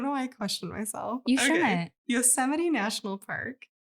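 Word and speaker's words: Yosemite: So a few years later, a group of park rangers set up a motionactivated cameras in Yusede.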